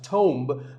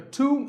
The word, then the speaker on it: tomb: often wrongly pronounced as tomb but the b is silent and the o is pronounced with an oo sound so a tomb is a place like